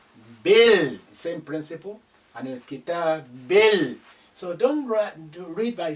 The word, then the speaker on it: عن الكتاب: Again, this alif is silent because it's not at the beginning. The lam retains its sukun because the kaf is a moon letter, it's not a sun letter.